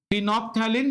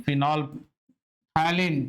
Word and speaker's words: phenolphthalein: And then you have one third one, third का नाम है फिनोप्थैलिन, लेकिन इसका स्पेलिंग है फिनोलप, फिनोलप, फिनोलप नहीं, फिनोल्फैलिन, THALEIN, फिनोप्थैलिन, इसको फिनोप्थैलिन बोलते हैं।